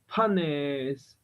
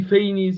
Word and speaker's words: Phanes: Panes. Pan, The really Phanes in English should be fine, but like pan. Panes is So it's like a P, thing.